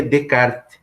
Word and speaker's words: Descartes: de colocar que aprender venecar Descartes mas a pronúncia é renée de kart ele é francês né enfim gente tem que